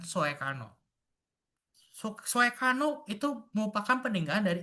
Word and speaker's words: Soekarno: Dan penggunaan huruf OE untuk vokal U. Mengapa? Contohnya adalah kata Sukarno dan Soekarno.